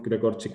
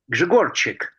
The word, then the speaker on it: Grzegorczyk: As you can see here, you can prove Gregorczyk axiom. By the way, I'm really sorry if I'm pronouncing Gregorczyk, but I'm not so sure if it's the correct pronunciation.